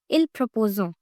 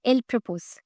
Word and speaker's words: il propose: For example, if you read these words, most of the students pronounce it as il proposons. which is totally incorrect. It should be il propose.